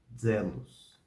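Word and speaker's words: zelus: i mistério mum mum e o z tem som de DZ Zelos Zelos Zelos assim fica feita essa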